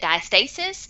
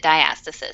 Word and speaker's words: diastasis: And some people pronounce it diastasis, and some people pronounce it diastasis.